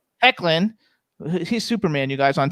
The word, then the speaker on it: Hoechlin: Ethan Embry, Annabeth Gish, Tyler how do you pronounce his name? Hoechlin? Hecklin.